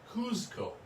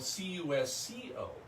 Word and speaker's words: Cusco: Now, it's spelled, it used to be spelled C-U-Z-C-O, Cusco. And some people still pronounce it Cusco. It is now spelled C-U-S-C-O, and it's Cusco.